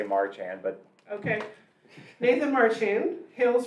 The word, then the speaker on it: Marchand: I say Marchand, but...